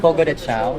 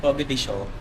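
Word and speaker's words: Fogo de Chão: may proper pronunciation yun eh. Beyond Fogo de Chao, di ba? Fogo de Chao.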